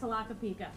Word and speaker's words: Tlaquepaque: This is, I always have to write this phonetically, Tlaquepaque. When people say, they say it so fast, Tlaquepaque.